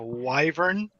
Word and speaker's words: wyvern: should be okay so how do you pronounce it Joe why Barn it's a w-y a wyvern yes okay you know better